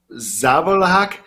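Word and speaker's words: Žabljak: Zabalhak, Zabalhak. Like the J makes the H sound, just like Spanish. So Zabalhak, I think that would be possibly how you pronounce it.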